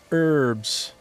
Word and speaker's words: herbs: In the States, in the United States, you call those herbs. The H is silent in the States.